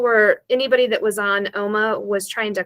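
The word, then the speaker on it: Ooma: I think it's called I think you pronounce it like Oma it's o-o-m-a it's an internet based um provider and people were anybody that was on Oma was trying to call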